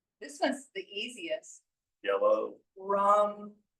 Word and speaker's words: Ram: Rum. It's rum. So they're all pronounced. They're all pronounced with the U.